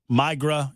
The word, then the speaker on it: La Migra: I am told that I have mispronounced Migra. It's a migra.